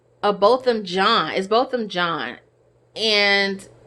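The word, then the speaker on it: Botham Jean: amber murdered both them I said I was pronouncing a possum but it's Bolton gene both of John is both of John and she murdered him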